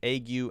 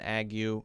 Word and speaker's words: ague: And I've heard this as ague and ague. I've heard both pronunciations. I believe it's ague.